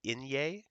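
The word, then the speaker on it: eñe: it's our same alphabet plus this letter here this is called an inye and it makes the sound Nia and you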